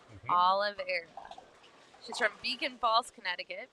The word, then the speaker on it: Oliveira: Oh, and okay, so here's Ariana Oliveira, is how you say that. Oliveira.